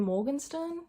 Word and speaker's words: Morgenstern: Another book I got around to reading was The Night Circus by Erin Morgenstern.